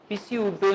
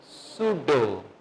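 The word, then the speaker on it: pseudo: ठीक है इसी तरह पसी उडो नहीं पढ़ेंगे इसको पढ़ेंगे सुडो ई की साउंड भी नहीं आएगी क्योंकि मैंने अभी सिर्फ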